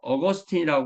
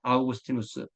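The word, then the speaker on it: Augustinus: 이렇게 하고 뭐 키프리안 이렇게 말하는데 요즘은 원래의 발음대로 불러주는게 국제 표준입니다 그리고 히의 아스 스 그니까 어거스틴이 하지 말고 영어로는 어거스틴이 이게 라틴어 그 그들이 부르던 이름으로 우리도 그렇게 부르는 거죠 그래서 아우구스티누스 등이 있습니다 그까 여기 말하 세 도시가 특히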